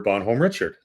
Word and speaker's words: Bonhomme Richard: So, uh first of all, now for your education, uh the pronunciation is Bonhomme Richard.